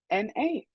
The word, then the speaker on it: Juana: It is spelled Juana, and it's pronounced Juana.